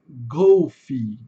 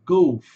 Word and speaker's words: Golf: Primeiro que não é golf, né pessoal? É golf. Esse f ele é assoprado, igual o tezinho daqui. Fox trot golf.